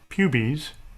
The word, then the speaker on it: pubes: pubis or pubies which brian garner tells us the correct pronunciation is pubies which sounds very cute so i'm sorry pubes